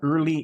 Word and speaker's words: Earley: It's called Early Information Science, and it's Early is spelled EARLEY. Don't forget the E before the Y.